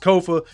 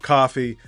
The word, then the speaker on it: Kofa: Once again, I am your humble host, Kofa. Ko F A, not coffee, not, not Kofi, or any variation thereof. Kofa rhymes with sofa.